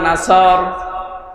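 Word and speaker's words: نصر: এখানে সোয়াদ মুখ দল করে উচ্চারণ করা লাগবে। সোয়াদকে সিন দিয়ে বললে অর্থটা আকাশ পাতাল পাল্টিয়ে যাচ্ছে।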